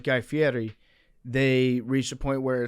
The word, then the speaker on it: Fieri: cool, but like Guy Fieri, they reached a point where it's like. What? Guy Eminem. Fieri, that's how you pronounce.